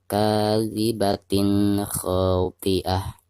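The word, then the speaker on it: كاذبة خاطئة: Ada tanwin kasroh tain di bawah ta marbutoh ya, seperti ini. Lalu berhadapan dengan salah satu huruf izhar, di sini huruf kha. Maka cara membaca tanwinnya itu harus dijelaskan ya.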